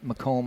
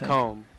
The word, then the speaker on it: Macomb: How's that place pronounced again? Macomb, I think. Macomb. Yep, Macomb.